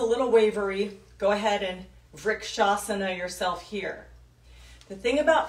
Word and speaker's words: Vrikshasana: Vrikshasana is spelled V-R-K, Vrik, A-S-A-N-A, Vrikshasana, tree pose.